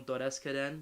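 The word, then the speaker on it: Dodeskaden: I watched his 1970 film Doreskaren, which follows basically... Is that actually how you pronounce it?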